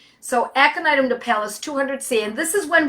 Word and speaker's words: napellus: word, it's two words, aconitum Napalis, exactly the way it sounds, folks. It's Latin, so think of it, it's phonetically correct. So Aconitum Napalis 200C, and this is